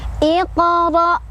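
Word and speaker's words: اقرأ: Ro, bukan ra, hati-hati, tapi ro.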